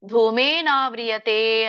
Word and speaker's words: ಧೂಮೇನಾವ್ರಿಯತೆ: ಹೊಗೆ ಆವರಿಯತೆ ಅಂತಂದ್ರೆ ಆವರಿಸಲ್ಪಟ್ಟಿರುವಂತದ್ದು ನಿಮಗೆ ಉಚ್ಚಾರಣೆ ಬಂದರೆ ಧೂಮೇನಾವ್ರಿಯತೆ ಅಂತ ಹೇಳಿ ಅದನ್ನ ಪೂರ್ಣ ಹೇಳಲಿಕ್ಕೆ ಬರದೆ ಇದ್ರೆ ಧೂಮೇನಧೂಮೇನ ಆವರಿಯತೆ ಅಂತ ಹೇಳಿ ಧೂಮೇನ ಆವರಿಯತೆ ಬಿಡಿಸಿ ಅಲ್ಲಿ